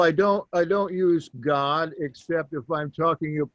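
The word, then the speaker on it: Gad: a d that's pronounced God there's a son of Jacob named God g a d remember that a is not like in English it's an a sound and God his name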